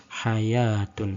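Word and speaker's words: حيوة: diganti dengan Wow sehingga seakan-akan seperti tertulis hanya watun namun sebenarnya itu sama Bacanya adalah Hayatun Hai pada beberapa kata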